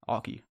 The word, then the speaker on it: Alki: Alka? Yeah. How do you pronounce it? Alki. Are you Oh, serious? I forgot you told us that's the German way, right? Alki?